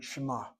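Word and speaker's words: שמע: You hear an M sound.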